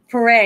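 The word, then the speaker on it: Paré: Michael Pereé. Pare.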